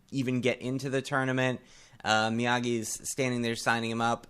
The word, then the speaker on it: Miyagi: He's like, no, it's Miyagi, not Miyagi.